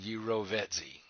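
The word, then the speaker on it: jirovecii: fungus new most cystitis pronounced and there's the pronunciation gyro vet z one of the most common opportunistic infections in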